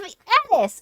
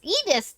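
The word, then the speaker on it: Eddis: king the Queen's thief of Edis Edis depending on older current which pronunciation you're doing both are used uh and and he's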